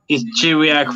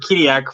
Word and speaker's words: Chiriac: Is it Shiriak? Is that how it's pronounced? There you go. Well, it's Chiriac for the English ones. Okay. It's Chiriac for the French ones, and Kiriak for the Romanians.